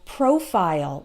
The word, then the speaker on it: profile: So we always pronounce it like isle in the short words like smile, okay? Pile, tile, as well as reptile and profile, like your Facebook profile, okay? We don't pronounce it like ol in those cases.